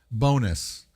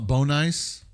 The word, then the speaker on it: Bohnice: This game is called Bonus. I keep want to call it Bon nice, but it's pronounced bonus.